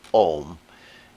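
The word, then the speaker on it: Aum: bit of a thing it's spelled a-u-m even though you pronounce it om and the idea is that the a and the u conjoined make the sound o of the ohm and then again that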